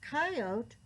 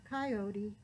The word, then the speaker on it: coyote: there really are factoid coyote can be pronounced coyote or coyote clumsy coyote said i'll